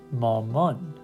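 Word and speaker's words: مامان: So put it together, it'll be ma-mon, ma-mon.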